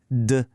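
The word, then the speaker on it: 的: It's duh.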